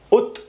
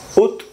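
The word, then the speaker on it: août: y Julio y Yu agosto es ut ut septiembre es seom sept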